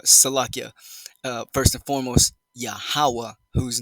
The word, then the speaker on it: Yahawah: highest the most high his true real name pronoun phonetically pronouncing it correctly righteously sounding it out in the first former dialect of the true ancient Hebrew resect of the two2 tribe chart is yahawah in the Holy tongue